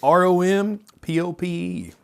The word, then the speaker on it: rompope: Okay, how do you spell that? ROMPOPE. You ever seen that one? Ron? Rom. Ron Pope? ROM. Oh, not rum. R-O-M? ROM. Oh, okay, As in because monkey. R-O-N rum. is rum. No, rompope.